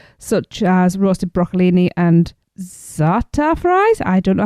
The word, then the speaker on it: za'atar: Now please note that while this restaurant offers many side options such as roasted broccolini and za'atar fries, I don't know how to pronounce that one.